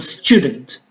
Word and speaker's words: student: So for student, the stress is on the first syllable.